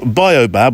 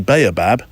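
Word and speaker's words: baobab: of the the pond location you can have bobab or actually babab or you can have bow bab so that's three and there's actually more because there's an African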